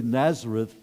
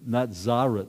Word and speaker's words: Nazareth: and Jesus referred to we would say Nazareth but in the air' day they had this sense through scholarly interpretation that it would be pronounced not Zara not Zara and so Jesus went